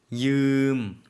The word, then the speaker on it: ยืม: ยืม 빌리다의 경우에는 사실 한국어로 요거를 표기하기가 좀 어려워서 마치 두 음절처럼 이음 이렇게 해놨는데요. 한 음절이에요. Y가 이제 쓰인 거거든요. 그래서 이음이라고 하나의 음절로 발음해 주시면 되겠습니다.